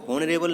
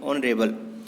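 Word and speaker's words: honorable: ऑनरेबल में जो है इसको हॉनरेबल नहीं पढ़ते हैं हम, यहाँ पर इसको पढ़ते हैं ऑनरेबल।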